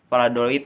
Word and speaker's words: Valladolid: Valladolid ya. Ya, bacanya seperti itu, Real Valladolid.